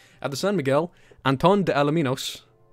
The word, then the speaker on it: Miguel: carries around 30 sailors that's not how you pronounce miguel okay how do you pronounce miguel and if you give me sass i'm just gonna start saying michael i won't actually but oh is it just miguel not miguel okay miguel at the same miguel